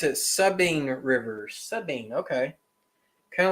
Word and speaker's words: Sabine: we got voodoo john saying in louisiana we pronounce it subbing rivers sabine okay kinda like how y'all pronounce new orleans nollens so subbing river all right well that's not how stephen pronounced it he told me sabine but sabine okay so subbing got it i